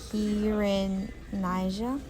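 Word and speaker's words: Kirinyaga: People originally called it the Kirin niga which means the the mountain of brightness but the British mispronounced it and eventually it just became Kenya.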